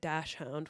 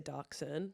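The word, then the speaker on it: dachshund: again so I guess I should say dashound we say Darkon um a dashound how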